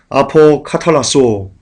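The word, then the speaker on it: ἀποκαταλλάσσω: 여기서 화목하게는 아포카탈라소라고 발음하는데요.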